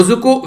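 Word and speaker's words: Dzükou: इसी के साथ में जुको वैली के, जिसमें डी साइलेंट था, बारे में हम लोगों ने बात की थी।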